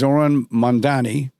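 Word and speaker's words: Zohran Mamdani: So, so now we've eliminated him and there's this trend and the person who's benefiting from it is Zoron Mandani and I want Zoran to know that I pronounced his name correctly.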